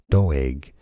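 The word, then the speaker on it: Doeg: tuned though egg okay because it's from Hebrew obviously in Hebrew doe egg now you know here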